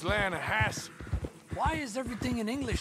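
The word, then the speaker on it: Lannahechee: trout you mean the lana hassie river no no no no the the latter hatch it runs right near here yeah but it's pronounced land has why is everything in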